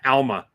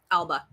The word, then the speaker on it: Alba: are here thank you it was Alba right not Elma Alba Alba yeah yes didn't want to